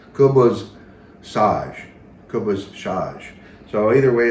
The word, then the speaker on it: Khubz Saj: And nowadays, down even in the mountains and down in Beirut, it would be pronounced Khubz Saj.